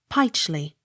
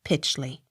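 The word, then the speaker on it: Pytchley: h l e y pichly not pitchly r u t h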